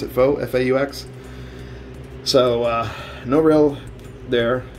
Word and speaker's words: faux: kind of made a fake rail or a faux rail as some people would say so that is pronounced it fo faux so uh no rail there no ridges on